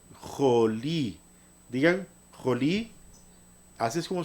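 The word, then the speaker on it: חולי: Esta palabra se pronuncia jolí, jolí.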